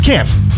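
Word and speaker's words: Kämpf: Camp. How do you say that? It's Kampf.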